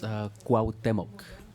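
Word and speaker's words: Cuauhtémoc: It's Cuauhtemoc. Cuauhtemoc.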